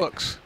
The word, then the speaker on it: WOOX: So you pronounce it like wood, but except with an X. Oh, right. WOOX.